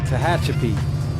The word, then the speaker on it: Tehachapi: This is Tahachapi. We're coming into. I said Tahachapi. Tehachapi. Tehachapi, I think that's how you pronounce it.